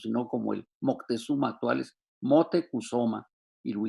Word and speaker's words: Motecuhzoma: moctezuma ilhuicamina y lo produce así como se pronunciaba en los tiempos prehispánicos sino como el moctezuma actuales motecuhzoma viru y camina y que fue el bisabuelo